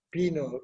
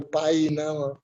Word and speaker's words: Pino: No tiene otra forma que se no decir Pino, no hay Paina o Painou o cosas por el estilo. Pino es Pino.